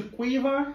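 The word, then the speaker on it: Caoimhe: I feel it's similar to Quiva.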